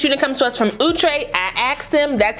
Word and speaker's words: Outre: So like I said, this unit comes to us from OOTRAY. I asked them, that's how you pronounce it. It's OOTRAY, not OUTRAY.